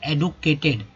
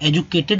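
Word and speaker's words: educated: खेतों में, अब देखिए शिक्षित का हो जाएगा एडुकेटेड, लोग जिसे एजुकेटेड बोलते हैं एजुकेटेड, जबकि ये शुद्ध इसका उच्चारण होगा एडुकेटेड,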